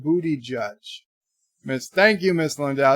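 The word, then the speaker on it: Buttigieg: sorry sorry to say beauty jizz pronounced booty judge miss Thank You miss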